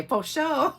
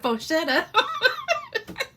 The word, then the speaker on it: Faux Shutter: So if you just search Faux Shutter, or every time I say that, I want to say Faux Show instead of Faux Shutter.